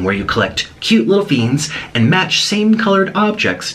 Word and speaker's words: Fiends: And it's pronounced Fiends, Best Fiends.